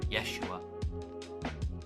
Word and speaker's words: Yeshua: Kind of like Hebrew, they don't pronounce J, they say ya. Ya. It's Joshua. Yeshua. Instead of Joshua.